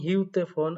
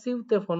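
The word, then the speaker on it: 휴대폰: তো এখানে যেহেতু আছে অনেকে উচ্চারণ করেন হিউতে ফোন, আসলে হিউতে ফোনটা উচ্চারণটা সম্পূর্ণ সঠিক না, আবার একবারে ভুলও না। এখানে সিউতে ফোন উচ্চারণ হবে, সিউতে ফোন, সিউতে জনোয়া, সিউতে ফোন, সিউতে জনোয়া, এরকমটা।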